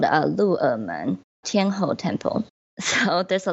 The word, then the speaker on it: Luermen: Okay, after the Green Tunnel, another place to check out would be another temple, which is called Lu'emen, Tianhou Temple. So there's a lot to spell here. Lu'emen is spelled Luermen.